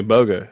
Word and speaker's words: Bogan: it's spelled Bogan. Now, when I listened to the book, he It said says Boga. Yeah. So I don't know. So I don't know. Maybe the N silent.